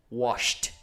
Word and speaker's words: washed: with a s H so it's a voiceless sound and so we have to pronounce it when it's in the past form or past participle form as well we have to pronounce it washed so have you washed